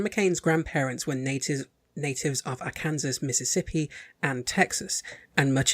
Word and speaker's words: Arkansas: Arkansas, not Arkansas. They should fucking spell it that way then. Where's the W?